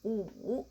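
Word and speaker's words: 五: The next one is wu, that means 5, okay? Wu. How to pronounce wu? Wu. Okay, because we know the English is room.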